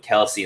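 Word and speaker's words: Kelce: Yeah, I think in the NFL right now, it's Kelsey or Kels or whatever he said is how he, but everybody knows. He did say that it's not pronounced. He said, well, it's actually Kels.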